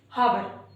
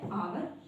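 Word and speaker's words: hour: और अगर हमें नहीं पता है कि इन दोनों वर्ड्स में एच जो है वो साइलेंट है तो हम इसको पता है ऐसे ही पढ़ते हैं। ऑनेस्ट और आवर सॉरी हावर। ये दोनों जो प्रोनंसिएशन है ये रोंग होते हैं। करेक्ट प्रोनंसिएशन होता है आवर एंड ऑनेस्ट यानी कि ईमानदार।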